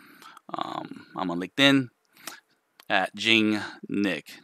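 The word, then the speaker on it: Nghik: I'm on LinkedIn at Jing Nick. That's my last name is spelled N-G-H-I-K. So yeah, I hope this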